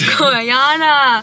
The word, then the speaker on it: Gorjana: i am cracking up i said the brand name wrong it's goriana the girl in the